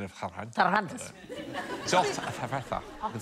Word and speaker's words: Cervantes: Very good pronunciation of Cervantes. Cervantes.